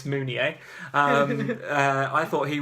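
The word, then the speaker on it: Mounié: I've learned to pronounce it's not moving it's munier I mean I thought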